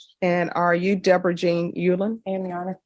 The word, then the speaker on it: Uleand: Allen for mul and are you Deborah Jean Yulan Amana how do you pronounce your last name Ulen Ulen okay I've been watching too many Korean dram